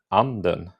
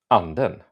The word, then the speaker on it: anden: So I have an example as well, and this one will be anden and anden, which means duck or spirit, depending on how I say it. So anden or anden, it's different things. So I don't know if you can hear it, but it's a tiny difference in how I'm pronouncing it.